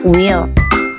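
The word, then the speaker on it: weel: in cloing is will this word means well and this is a scottish style that is deliber used to make the po feel more familiar and war the way to read it is similar to the usual well but the e is larer so it's called will ya will jadi puisi red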